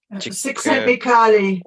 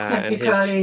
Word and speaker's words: Csikszentmihalyi: And also there's the book by I think his family name is a bit difficult to pronounce, Mihai Csikszentmihalyi. yeah, Csikszentmihalyi, yeah.